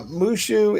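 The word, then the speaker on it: moo shu: blue shoe mushu uh mushu is a chinese dish and it's moo like cow followed by shoe not spelled like shoe but pronounced like shoe and it is a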